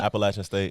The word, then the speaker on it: Appalachian State: You went to, how do you pronounce it? Appalachian State? Appalachian State.